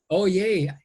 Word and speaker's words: Oye: be joined by Jude oh I hope I'm pronouncing your surname correct oh no oh yay oh yay yeah here is an incredible social entrepreneur an